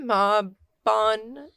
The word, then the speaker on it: Mabon: Mabon is the English pronunciation. Mabon is the American, because we make everything sound ugly.